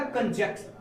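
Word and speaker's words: conjunction: इसको अब अक्सर हम लोग क्या पढ़ देते हैं? कंजक्शन पढ़ देते हैं। क्या? कंजक्शन। अर्थात यन को हम लोग साउंड ही नहीं करते, तो ये गलत पढ़ते हैं। इसका सही प्रोनाउंसिएशन क्या होगा? कंजंक्शन, यानी कि यन का साउंड आना चाहिए।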